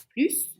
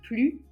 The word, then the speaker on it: plus: Tom est plus jeune que son frère. On ne prononce pas le S.